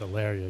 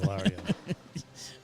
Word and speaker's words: Alario: this place alio arario it's alario you were calling it Ario yeah I was all